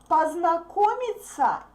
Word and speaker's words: познакомиться: С вами познакомиться. Познакомиться. This ending is pronounced like sa, sa, sa.